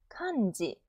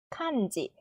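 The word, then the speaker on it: 漢字: 카은지 발음을 하면 칸지 입이 옆으로 이렇게 벌어질 거예요. 이 소리 내는 것처럼 벌어질 거예요. 그쵸? 칸지.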